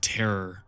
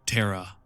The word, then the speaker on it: Terra: God, I feel like I always say Eye of Terror. Terra. I said it right though.